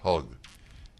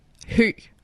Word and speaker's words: Høg: As for example, her last name is H-O-G, but it is not pronounced Hug. It's pronounced, go ahead. Høg.